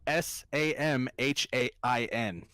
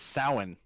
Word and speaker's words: Samhain: guys pronounce that say it again it's spelled s am H AI n spell it wait wait Sh si ma che I n I just typed it salmon everyone pronounces it Samhain but it's soin yeah yeah I just I'm so pissed may